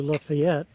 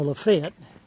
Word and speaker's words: Lafayette: we continue going east into Lafayette no lafette lafette that's how they pronounce it and then somewhere east